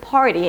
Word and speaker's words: party: Why is it so difficult in the word party, and it's not that difficult in the word car? The reason is that you have a consonant right after. Party. So your tongue is kind of like preparing for that TD sound. It's a flap T.